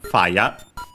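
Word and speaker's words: ファイア: Okay, accent on the first one, fire.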